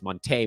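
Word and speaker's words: Monté: Someone told me lately that everybody's been saying his name wrong and that it's not Monty Morris, it's Monte Morris. And I feel bad about that. And I feel like we should have known because there's an accent on the E, but no one's ever really pronounced it.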